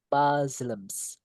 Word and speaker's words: Muslims: Muslims. Muslim. Jadi iya muslim itu umat muslim is the right muslims jadi s-nya kayak dibaca Z gitu guys oke all over